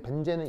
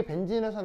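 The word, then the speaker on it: benzene: 벤진, 알겠죠? 벤젠 아니에요. 벤젠은 일본식 발음이고 영어식으로는 벤진. 네, 여기 이제 E가 E 장모음이에요. 자, 얘 같은 경우 지금은 양쪽의 루이스 구조의 존재 확률이 어때요?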